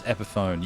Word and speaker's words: Epiphone: Oh, the guitar's Epiphone, yes. Sorry, I was like, I read the word epiphany. I was like, that's how you say it, isn't it? Like Epiphone, yeah. Like telephone.